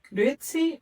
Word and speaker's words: Grüezi: La grit, tienes que pronunciarlo con la U, los puntitos, ¿no?